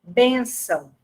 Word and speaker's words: bênção: Porém, a sílaba tônica da palavra é o ben, né? Ou seja, o acento tônico recai na penúltima sílaba, bênção, tá?